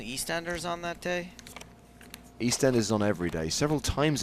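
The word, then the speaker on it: EastEnders: ERS on that day East Enders on every day several times a day yeah no I can't miss East Enders East Enders please put the emphasis on the correct syllable East Enders East Enders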